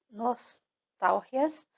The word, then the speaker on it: nostalgia: assim, cortar raízes, dominar nostalgias. Tem que prestar atenção aqui porque não é nostalgia. Nostalgia é a pronúncia do português. Em espanhol, nostalgias. A sílaba mais forte é o tal.